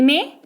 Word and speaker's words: May: इसकी स्पेलिंग तो है MAY, इसको पढ़ते हैं मे और हिंदी में मई।